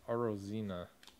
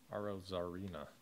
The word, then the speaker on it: Arozarena: And Arozina, not how you say it. Arozarena.